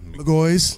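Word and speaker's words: McGaughy's: How do you pronounce it? McGoy's.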